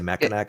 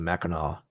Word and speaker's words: Mackinac: I say Mackinac and then correct myself to Mackinac halfway through the word.